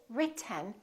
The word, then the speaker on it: written: We say writ, Just move your tongue forward to go directly to the N. This E kind of disappears. It's not pronounced. So it's basically the T and the N that are next to each other. Written. Keep your tongue up. Don't release it. Let the air just come out through your nose for the N sound.